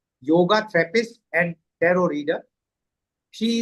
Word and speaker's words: yoga: So, what is exactly yoga? As uh we pronounce it yoga actually it is yoga.